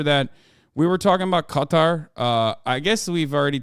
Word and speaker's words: Qatar: my favorite things is like listening to everybody pronounce Qatar okay that's a new one Couture I I had not heard that one before